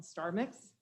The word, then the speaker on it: STRmix: news uh we have a new software called starmix that's spelled strmix and it actually performs what we